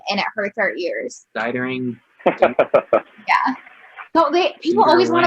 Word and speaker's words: Dietering: Dietering.